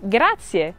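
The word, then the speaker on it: grazie: the third one is graia which means thank you remember to pronounce the IE ending gra gra the fourth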